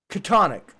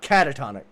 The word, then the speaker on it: Katonic: If you know Lovecraft, think MzKatonic University. Catonic, not catatonic. Catonic. Yeah.